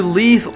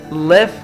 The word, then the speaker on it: leave: To leave or to take a message. Leave تلفظ درستش leave است. Left نیست. Left تلفظ زندگی کردن است.